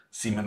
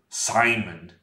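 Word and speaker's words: Simen: we were talking about seaman I'm disdain'd I'm not gonna call him Simon because while that would be like the normal English pronunciation it's just not his name it's a different name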